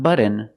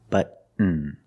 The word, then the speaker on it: button: candy like cotton candy button button not button it's button stop tea and fall